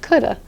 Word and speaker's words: could've: lot of times your native English speakers won't be pronouncing the v instead they'll be saying something like coulda I could have done